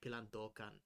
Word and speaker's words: Pilandokan: I think usually in Filipino accents you put emphasis on the middle syllables of words. Mhm. Like the deer folk, I was saying pilandokan, but Wax corrected me. It was like pilandokan. I'm like Pilandokan. okay. Pilandokan.